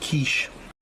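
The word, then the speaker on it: quiche: keep me going can have a quickie it's pronounced kich the baked potato is going on going to have that with uh kiche but I'll put this on first warm it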